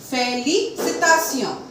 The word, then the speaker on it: félicitation: If T-I-O-N come together, we are going to pronounce it as Sion. For example, salutation, salutation, félicitation, félicitation, attention, attention.